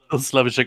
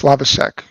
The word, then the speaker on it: Slavicsek: Just just on pronunciations, it's Slavase. Okay. Slavase. My apologies. No, no, no. just I since we brought it up, I figured I'd just say the way my name actually should be said.